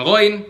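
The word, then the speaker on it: غ: Kesalahan kedua pada pengucapan ghoin yang berharokat, yang harokatnya fathah dan dhammah, gu, yaitu kan tadi kita udah jelasin ya, kalau ghoin itu makrojnya sama kayak huruf kho.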